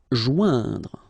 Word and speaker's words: joindre: Joindre, okay, remember, O-I-N together, ouin, okay, joindre, joindre.